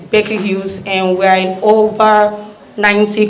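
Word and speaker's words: Baker Hughes: aquin and yes the correct pronunciation of my company that is an american company is becky hughes and we're in over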